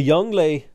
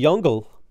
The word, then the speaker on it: Yongle: earlier yeah uh the young lay the jungle the Le in Jungle is pronounced like the French uh L plus ratio didn't